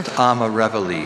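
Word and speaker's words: amarevole: pronunciations? There's just Amarevoli.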